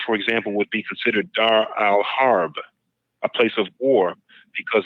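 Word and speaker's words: Dar al-Harb: but there an opposite of that called the Dar Al harb d a r then the next word a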